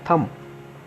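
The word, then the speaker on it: thumb: word है मेरे पास थम अब हम इसको थंब्स अप अट अनंत नहीं करना इसको बोलते हैं थम कि थम उठा थम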